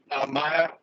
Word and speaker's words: Maya: And yes, Maya is pronounced Maya and not Maja, because J in German is like Yi.